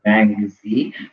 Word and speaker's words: Mengzi: The actual pronunciation is Mangzi. Mancuse is sort of the Latinized pronunciation of his name.